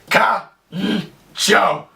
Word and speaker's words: Kancho: Pronounced exactly the way it's spelled, Kancho.